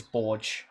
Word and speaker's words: Borge: so I just pronounced borgy because it sounds better but officially my last name is Borge yeah it's Maltese shut the [ __